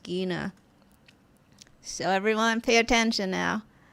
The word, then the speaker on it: Gena: want everyone to know that her name is pronounced gina so everyone pay attention now can i